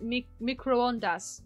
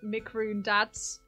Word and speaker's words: microondas: Your guess is pronounced microondas. Ah, that makes sense. Microondas. But when I first saw it, I thought it said microondads with a D on the end.